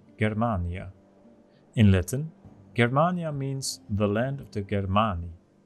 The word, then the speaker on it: Germania: So, first and foremost, what is Germania? Or, pronounced better, Germania.